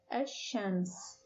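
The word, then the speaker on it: الشمس: of chance it becomes ashames chance please notice that the pronunciation of the lam in the article has changed and the first word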